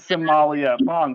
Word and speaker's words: Somalia: is Somalia.